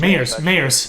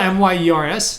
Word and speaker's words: Mayers: It's Meyers. Yeah. That's cool. It's spelled M-Y-E-R-S or M-A-Y? M-A-Y. Okay, yeah, no. Yeah. Like everybody says Myers, but it's actually Meyers.